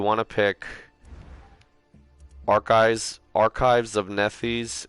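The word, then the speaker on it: Nethys: pick archives archives of nephews it's spelt n it's like neff like n-e-t-h and then y-s nephews um archives of nethers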